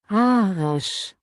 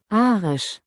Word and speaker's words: Arisch: Arisch. Okay, well, let's play that again because it's a bit German. Arisch. Arisch. Arisch. Which sounds a lot like Irish.